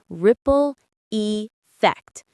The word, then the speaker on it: ripple effect: Ripple effect. The stress is on the first syllable of ripple and the second of effect.